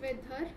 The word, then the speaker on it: weather: Next is not weather, it is not R, it is weather. Right? The last R is not pronounced.